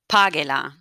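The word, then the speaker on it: págela: Divide page into syllables. I'm going to divide it into syllables. Pa, ge. Ge is my first syllable. Pa is my second to last syllable.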